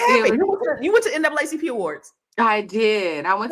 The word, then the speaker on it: NAACP: say that no more it's supposed to be n aacp oh that's the proper way okay yes that's a proper way to say it uh but you know